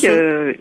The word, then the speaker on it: coquille: Et pour coquille, ça se Bah, prononce coquille, coquine.